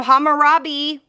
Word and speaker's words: Hammurabi: I can say it now, Hammurabi.